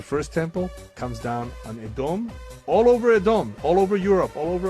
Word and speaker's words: Edom: And Edom, or as Americans pronounce it, Edom, is still the biblical enemy of Yaakov.